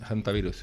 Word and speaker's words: Hantavirus: Bueno, eso es una forma de No, es que claro, en inglés en inglés la H se pronuncia, se pronuncia la H, ¿no? Hantavirus, elta, el Hondius, el